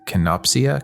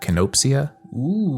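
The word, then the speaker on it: kenopsia: called i don't know how to say it canopsia canopsia canopsia it's k-e-n-o-p-s-i-a okay and that is the word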